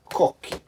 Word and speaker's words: Cocchi: So for example, one of my favorite producers, Cocchi, is spelled like this, and you see as C-H-I, but becomes a Chi, Cocchi.